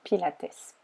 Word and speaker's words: Pilates: On prononce d'ailleurs Pilates.